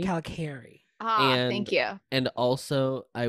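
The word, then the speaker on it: Kalokairi: It is pronounced Calicari. Calicari.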